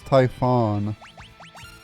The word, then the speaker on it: Typhon: It's not Typhoon because Typhoon's spelled with 2 O's. So it's Typhon.